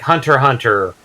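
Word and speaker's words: Hunter × Hunter: I mean, it's mostly interpretive of, like, which main, like Hunter x Hunter, the X there is silent, but The X is silent.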